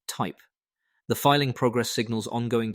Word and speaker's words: THYP: 21 Shares filed a second amendment to its S-1 for a US hyper liquid ETF and disclosed the proposed Nasdaq ticker THYP, pronounced type.